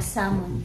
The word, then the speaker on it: salmon: Then Yun nga yung Salmon din silent l kaya tinatawag siya na Salmon sa you want that